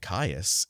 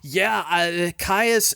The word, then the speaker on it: Kyuss: So I looked that up and was, happy to learn that it's kyuss and not kyuss, which I thought it was.